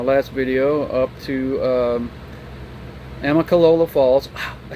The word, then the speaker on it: Amicalola Falls: docked on the last video up to um amicalola falls i said it right the first time i